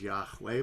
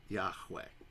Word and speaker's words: Yahweh: together all right and they scholars think that the way they pronounced it was Yahweh but we don't really know have you ever heard